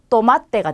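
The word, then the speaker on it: tomate: 얘는 쌍디귿이 발음입니다. 그래서 얘도 어떤 단어의 어떤 자리에 오더라도 쌍디귿으로 하시면 돼요. 그러면 여기 있는 단어는 또마떼가 되겠죠.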